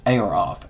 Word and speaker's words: Ayeroff: a croft a or ayeroff is a y e r o f off air off air off creative director